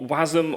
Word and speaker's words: WASM: So WebAssembly, or WASM, or WASM, depending on how you want to pronounce it, at its simplest form is a binary instruction format for a stack-based virtual machine.